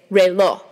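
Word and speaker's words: reloj: tree the word for clock in Spanish is REO REO is spelled r e l o j here's another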